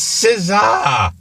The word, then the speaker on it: SZA: Scissor's going to be his special guest. It's not Scissor. It's SZA. SZA. That's how you say it.